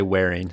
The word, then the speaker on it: Manwaring: So, I mean I we say wearing.